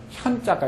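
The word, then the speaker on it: 見: 그 다음에 볼견자도 현자가 있죠, 그죠? 나타나다 할 때는 현. 원래는 이것도 현이 요렇게 해야 뭐죠? 현이죠.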